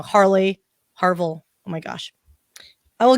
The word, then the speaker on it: Harville: So it's Dr. Harville, by the way. Sorry, Dr. Harvey. Oh my gosh, I said it wrong. Harville.